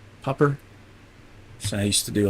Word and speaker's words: Popr: Mellon being head, popper.